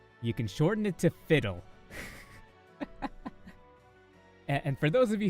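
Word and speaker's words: FIWDWHL: Fiddle, or F-I-W-D-W-H-L, I pronounce it fiddle, means fuck it, we'll deal with HR later. And that is basically the strategy that we have been pulling on our warehouse.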